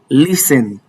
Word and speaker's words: listen: Whenever you come across any of these words listed here, bear in mind that the T is silent.